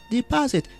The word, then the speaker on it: deposit: money in the bank we stress the second syllable ah deposit some people say how to deposit deposit but we don't say deposit guys how do you say it has it deposit we say deposit don't stress the first syllable yeah don't say deposit